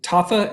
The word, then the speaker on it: Tafa: is and you're going against an australian justin tafa is that how you say it yes sir